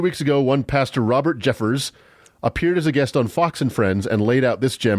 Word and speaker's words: Jeffress: It is pronounced Jeffris. Uh, sh. I got it wrong. It's Jeffers, not Jeffris.